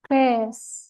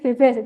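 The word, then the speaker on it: Bes: itu apa contoh nih B mol dibacanya apa Bas bukan bebas ya biasanya Kadang orang bilangnya Ini BB Enggak ini bukan BB b gitu aja karena B mol Terus kalau misal nya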